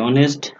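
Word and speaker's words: honest: Hour বলে, ও ইউ আর, মানে এইচ এর উচ্চারণটা হয় না। ঠিক এরকম আরো অনেক শব্দ আছে, এইচ ও এন ই এস টি, অনেস্ট, এটার সামনেও এন হবে।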